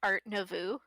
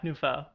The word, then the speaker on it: art nouveau: one more time no tell me how it's pronounced art nouveau nouveau yeah nufo i'll let you get i'll let you get away with this one okay new nouveau nouveau i hate french um but i was close